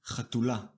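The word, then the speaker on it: חתולה: The female version is chatula. Chatula. One thing that strikes the eye is that the stress has moved to the last syllable.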